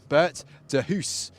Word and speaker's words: Bert de Hoos: The outside of the front row, second position, Bert de Hoos, as I'm told that's how you pronounce it. That's my best go at the Dutch pronunciation.